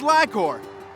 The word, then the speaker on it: LI-COR: It's pronounced Li-Cor.